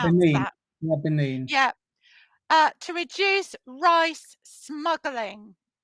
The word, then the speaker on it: Benin: How do I get pronounce Benin. that? Yeah, Benin.